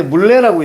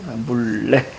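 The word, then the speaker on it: 문래: 자, 이때 물레라고 있습니다. 다 이호선이죠. 자, 이거 우리 추구에 우리는 유음화라고 배울 거예요. 그래서 물레 이렇게 우리 적어 주시면 될 거 같습니다. 핫. 정 물래.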